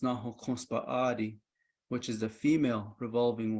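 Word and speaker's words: Náhookǫs Bąʼáadii: And Cassiopeia, for us in Navajo, is pronounced Nahokonspa'adi, which is the female revolving one.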